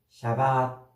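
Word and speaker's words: שבת: 안식이 안식이라는 말은 좀 히브리어 원어로 샤바 샤 이렇게 발음을 해요 샤바 역시 마찬가지예요 샤샤바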